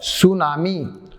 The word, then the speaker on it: tsunami: TSUNAMI। तो ये टी से शुरू हो रहा है, बोलते क्या है? सुनामी, लेकिन शुरू हो रहा है टी से।